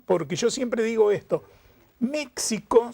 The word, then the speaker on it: México: yo siempre digo esto méxico se escribe con xy se pronuncia con jota es uno escribe méxico